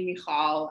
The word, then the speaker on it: Michal: It's very apparent, and I always get the question, well, first, my professors always call me Michael, and then we have the conversation, no, it's actually Michal, and then there's a